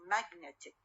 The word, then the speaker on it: magnetic: For example, when I say magnet, okay? magnet الستريس على أول syllable magnet. من أضيف لها IC يصير magnetic, okay? الإك ما ياخذ لي الستريس، والستريس ما تبقى على أول syllable. shift معناها change, move to what? To the other syllable. يصير magnetic. net هي الوسط ويصير المشدد stressed one. magnetic.